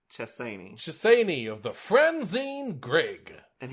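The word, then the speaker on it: Chessene: shissaini trusani shissaini shersani it's spelled chasing so that's why i keep wanting to read it as it's spelled but it's chessini of the franzine greg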